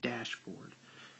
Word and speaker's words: dashboard: up here okay and here we have dashboard you can hear the stress on the first word dashboard this is also called